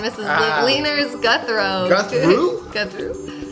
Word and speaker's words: Gouthro: Gouthro. You got to drop the U.